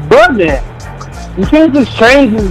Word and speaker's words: Buddah: Nah, it ain't Broman. It's Buddah. You can't just change his name. You just change his name. You can't change the man's name. It's Buddah.